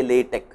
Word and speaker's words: LaTeX: Of course, pronunciation is nothing, it is not the important thing, but still I request people to say LaTeX.